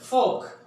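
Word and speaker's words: folk: फोक, लोगों को कहा जाता है यानी पीपल, फोक। यहां पे साइलेंट क्या होगा? एल साइलेंट है।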